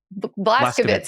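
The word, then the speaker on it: Vlaskovits: Ellis and with Patrick, am I going to pronounce his last name right? Blaskowitz. Yeah. Blaskowitz.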